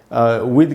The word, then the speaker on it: with: सबसे पहली बात तो ये कि इस with का, इस वर्ड का जो प्रोनाउंसिएशन है, इसमें TH से द का साउंड बनेगा, थ का नहीं।